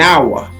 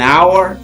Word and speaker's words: hour: We we mean we want to say that this H is not pronounced. So it's like this. An hour.